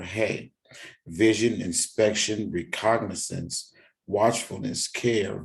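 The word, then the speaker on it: ה: as in honor or e value five it's pronounced hey it means window literally wind door a window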